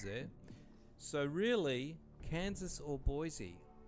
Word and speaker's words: Boise: Generally speaking, which of these US cities is pronounced with a Z sound by outsiders and an S sound by locals?